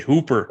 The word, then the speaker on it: Hooper: and hopper utah hopper huffer h-o-h-o-o-p-e-r i say hooper turn out pronounce the way they pronounce it if they're